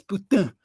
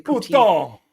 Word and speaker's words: poutine: But you're saying it wrong. It's poutine. You can't say poutine.